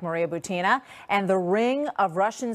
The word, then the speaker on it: Butina: I mean, Maria Butina, by the way, is how it's pronounced, Thank you.